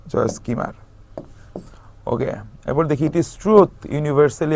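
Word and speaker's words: Kilmer: ভালোবাসা খুঁজে নিয়েছিলেন জয়েস কিমার হ্যাঁ এল টা উচ্চারণ হয় না জয়েস কিমার ওকে এরপর দেখি ট্রুথ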